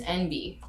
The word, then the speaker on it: Enby: What is Enby? NB? ENBY. Oh. It's a word. ENBY? Yeah, Enby. It's another term for non-binary. It's spelled out as if you would sound the letters NB, like N.